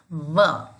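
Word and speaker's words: व: Don't round your lips. It's not Oshtau. We do not use W. We use the teeth and the lips. Danta Oshta. So you pronounce it like this. Va.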